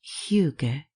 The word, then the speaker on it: hygge: In 2016, one of the candidates for the word of the year of Oxford dictionaries was h Y g e pronounced huger.